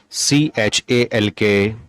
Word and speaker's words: chalk: L is silent. ALMOND, amend. CALM, calm. HALF, half. FOLK, fork. SALMON, salmon. PALM, palm. WALK, walk. CHALK, chalk.